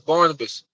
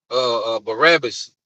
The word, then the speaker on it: Barabbas: Give us Barnabas. All right? Barabbas. You know? I'm saying it right.